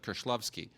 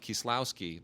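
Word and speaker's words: Kieślowski: actually say to somebody one of my favorite film directors is Kristof klovski because they won't know who that is but if I say Kristoff kislowski they understand that and that's what I would say I would say he directed three colors and he's a brilliant and that's his name so so like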